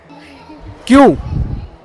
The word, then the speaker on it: queue: Q. Q-U-E. 4 letter हटा दो. Pronunciation will remain.